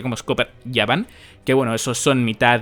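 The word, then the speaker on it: Scopper Gaban: pasa con scoper gaban que en verdad se pronuncia como scoper yban que bueno esos son mitad yoyin mitad gigantes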